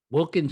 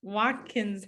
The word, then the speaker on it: Watkins: Now you went to Ladue Horton Wilkins High. Is that how it's said? Watkins High, Ladue Horton Watkins High School.